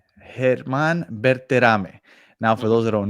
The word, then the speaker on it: Berterame: And how do you pronounce his last name? Bertame. I if you want to go with the Spanish, you know, if you want to go Bertoame. Herman Bertame.